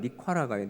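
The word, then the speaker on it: Nicaragua: 우리나라 말로는 니카라가예요. 니카라가. 거기 발음으로는 니카라구아입니다.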